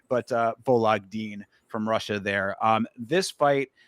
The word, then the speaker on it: Vologdin: but this is Adrian Luna Martinetti versus Vologdin is how you pronounce it. Vologdin, but Vologdin from Russia there.